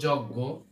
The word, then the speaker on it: যজ্ঞ: ঠিক আছে, আমি যখন বলবো যজ্ঞ, দেখেন এই যজ্ঞ এখানে গর মতো উচ্চারণ হচ্ছে।